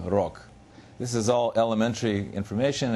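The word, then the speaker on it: рог: So you take a word like rog, and in final position, the G sounds like K, rog.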